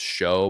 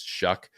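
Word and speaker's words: Shough: I've always really liked Tyler Shuck, who is one of those names that doesn't look like it should sound like that. It looks like it should be pronounced show, but it's Shuck.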